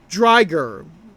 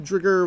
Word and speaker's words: Driger: So Drigger is actually pronounced as Driger, as in tiger, Driger. The name Drigger was pronounced in the dub, and this was not corrected in the birth.